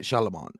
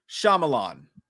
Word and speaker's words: Shyamalan: we're doing i'm not shaliman am night shyamalan which by the way that's exactly how you pronounce his name what shyamalan shyamalan i said that